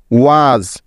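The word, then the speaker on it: was: বুঝিয়ে দিচ্ছি যেমন দেখো শব্দের শেষে যখন এস থাকে তখন ওই এস এর উচ্চারণটা সাধারণত জ এর মত হয়ে থাকে যেমন দেখো এস এজ এইচ এস হ্যাজ ডব্লিউ এস ওয়াজ দেখলে তো এখানে প্রত্যেকটি উদাহরণে শেষে এস থাকার কারণে এস এর উচ্চারণটা জ এর মত হচ্ছে ঠিক তো আবার দেখো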